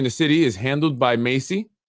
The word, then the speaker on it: MHACY: section 8 here in the city is handled by macy pronounced macy like the name or macy's the store which stands for uh municipal housing although it has the h there which is silent housing agents agency of